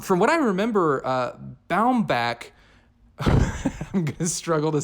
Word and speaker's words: Baumbach: Noah Baumbach Baum Bomback It's Baumbach. No, Baumbach. Noah Baumbach. I have to get used to saying that. You know what it reminds me of? I heard him pronounce his name as Baumbach and it blew my mind cuz I've been saying Bomback, which just seems so much easier to say.